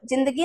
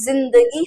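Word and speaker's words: ज़िंदगी: जब ये बिंदी लगाएंगे तो उसका उच्चारण अलग तरीके से होगा, जिंदगी ना होके जिंदगी होगा, ऐसा, है ना।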